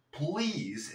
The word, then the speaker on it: please: Please, esa L como si te tragaras la lengua. Please, please stay. Recuerda que la E no se pronuncia, pegamos las consonantes para no decir stay.